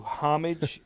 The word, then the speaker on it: homage: In Psalm 2:12, the Bible says, "Do homage to the Son, that he not become angry." You're going to say, I think, that the proper pronunciation is homage.